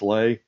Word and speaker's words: Lei: promise but she says my name is pronounced is in the Hawaiian Lee and I'm guessing that's Lei uh your book report is an A++ so thank you for that is Lei is in like is in like what goes around the neck type of am I pronouncing that right all right good good